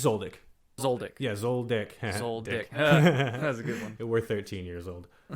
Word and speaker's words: Zoldyck: It's again pronunciation, man. Yeah, no worries. It's Zoldyck.